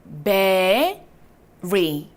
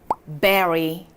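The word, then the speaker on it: bury: 바로 우리 묻다라고 할 때 이 단어를 쓰는데 you가 A로 발음되는 경우입니다. 자, 우리 그러면 어떻게 읽어주면 좋을까요? B-U-R-Y. 자, you가 A로 발음되는 경우에요. berry, berry, berry, berry.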